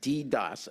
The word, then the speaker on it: DDoS: it was a distributed denial of service DDOS pronounced DDOS attack was coming from various International ISP internet